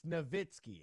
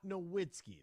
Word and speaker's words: Nowitzki: jokic and Dirk nowitzky it's novitsky it's not Nowitzki that's not how you pronounce it maybe we just